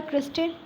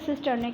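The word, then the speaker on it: cristae: ऐसे डांस कर रहा है, इसको बोलते हैं सिस्टर्ने कहते हैं। ओके, सॉरी एक मिनट, सॉरी मैंने ठीक ही पढ़ाया आपको, लेकिन मैंने प्रोनाउंसिएशन गलत करी। बेसिकली ये क्रिस्टे है, ये मैंने पढ़ाया ना जस्ट अभी आपको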